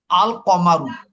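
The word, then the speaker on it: القَمَرُ: কিন্তু কিন্তু যদি এটা কমারি হয় তখন কিন্তু তার লামের উচ্চারণ হবে। যেমন আল কমারু, কমারু অর্থ কি?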